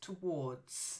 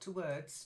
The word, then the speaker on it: towards: okay then okay so the first word there is towards not to words towards again two words